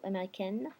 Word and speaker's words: américaine: So, américaine, I'm pronouncing my N because I have an O muet.